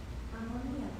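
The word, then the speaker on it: amoníaco: Ammonia in Spanish is ammoniaco.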